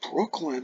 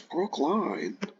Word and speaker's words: Brookline: Don't think it's pronounced Brooklyn, I think it's Brookline.